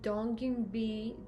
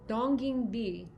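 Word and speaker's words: Donginbi: essence essence i'm going to be using the donkey b dong b i'm finally pronouncing it properly uh popular korean skincare brand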